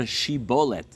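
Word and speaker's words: שיבולת: tradition this existed uh were not able to properly pronounce Shin they would often pronounce Shin as a sin and so the people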